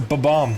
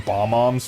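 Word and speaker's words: Bob-omb: that joke B no it's a b bomb you're supposed to stutter uh I I know so many people who called them bom moms for years and then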